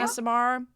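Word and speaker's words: Aasimar: Is it Asimir you pronounce it? Is that how it's meant to be? Asimar? Asimar.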